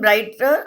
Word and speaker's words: brighter: सो GH इज silent in bright and in brighter also.